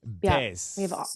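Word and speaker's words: Béis: of the luggage brand B B bass yeah bass all your Basics yes yes so there I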